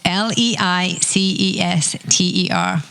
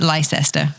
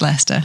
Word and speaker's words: Leicester: be spelled l e s t lester it's l-e-i-c-e-s-t-e-r americans mostly pronounce it lyster but it's not it's leicester leicester okay and that's what about 100 miles